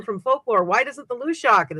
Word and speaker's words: Luidaeg: The Lushak actually is a Scottish folkloric figure. And her name is spelled Luideag.